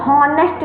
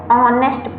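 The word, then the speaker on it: honest: ऑनेस्ट, इसको हॉनेस्ट नहीं पढ़ते हैं, यही उच्चारण की दोष, यही उच्चारण के दोष हैं, यही उच्चारण की कमियां है कि एच है तो यहाँ हॉनेस्ट पढ़ेंगे, नहीं, इसको ऑनेस्ट पढ़ते हैं।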